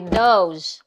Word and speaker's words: those: Ang plural ng that ay those. Okay? Yung those, yung letter S niya, ang bigkas ay letter Z. Okay? Those.